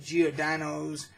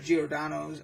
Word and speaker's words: Giordano's: and then we went to geo dinos and got Giordano's I believe it's pronounced and got the famous